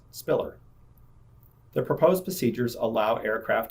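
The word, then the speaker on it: SPILR: limited to five letters the departure identified with the letters s p i l R is pronounced Spiller the proposed procedures allow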